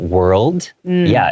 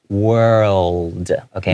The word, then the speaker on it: world: World. Okay, make sure that tongue comes out and then goes back in.